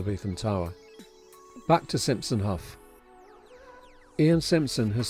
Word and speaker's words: Haugh: And my sincerest apologies for mispronouncing Hough in past videos. Simpson Hough, formerly Ian Simpson Architects, was set up in 1987 by Ian Simpson and Rachel Hough.